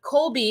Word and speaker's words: Colby: So Colby had Colby, is they're actually pronouncing the L in that. The Colby had 2 younger siblings, and that is Ty Lee and JJ.